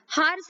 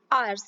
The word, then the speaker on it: hours: अभी देखिए HOURS, हार्स इसको आप प्रोनाउंस नहीं करेंगे, यहाँ पर H साइलेंट हो जाएगा, आर्स इस तरह से आप इसको प्रोनाउंस करिए।